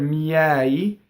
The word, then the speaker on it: miei: So in the word miei, it is an S sound, and how we notate that is with the E with the rounded edges in IPA. Right, so that's open E, and that's like the word head in English, right? Or the name Edward, right? Head or bed or lead, right?